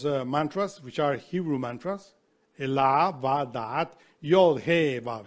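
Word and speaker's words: אלה: Elah is Aleph Lamed Hey, Elah, or Eloah, we say sometimes.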